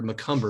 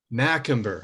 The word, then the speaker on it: Macumber: as a guest mccumber am i pronouncing that last name correctly you're close it's magical mackember okay it's a question of where to put the correct accent on the right syllable so i messed it